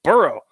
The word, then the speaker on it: burgh: the other hand respectively if a new town was named by people of British extraction they would use b-u-r-g-h and the correct pronunciation would be burrow if it was named by people of Germanic or Scandinavian extraction they would use b-u-r-g and the correct pronunciation would be Berg oh come on man